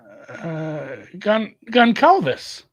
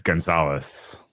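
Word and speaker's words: Gonçalves: I'll tell you what the correct pronunciation is after. But I don't want to give it away. Goncalves. How do you say it? It's Gonzalez.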